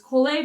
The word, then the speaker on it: collé: If you have any further questions about this collé bow stroke, which is spelled as C-O-L-L-E with an accent.